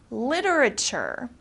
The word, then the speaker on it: literature: actually theirs all right literature okay in the United States we especially pronounce this t very softly the T becomes very soft so literature means books